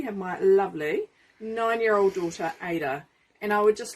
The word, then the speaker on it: Ada: So behind the camera today we have my lovely 9-year-old daughter Aida.